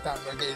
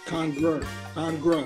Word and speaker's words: congregation: You in your congregation. Congruent. Hold on. Pronounce words right if you want to. It's the congregation, not Congo. It's not. It's the congregation. We don't have a church in the Congo.